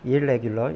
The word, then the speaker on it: irregular: 그런데 이게 R인 경우에는 지금처럼 이게 R인 경우에는 이게 IR로 변합니다. 이렇게 그래서 irregular 이렇게 발음하셔야 돼요.